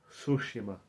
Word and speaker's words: Tsushima: don't say you say sushima like like you should shushings on the t is silent I'm not Japanese but